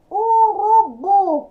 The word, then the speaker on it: urubu: Urubu, qual que é mais forte? É o bu. Então, é a primeira sílaba aí, número 1, oxítona.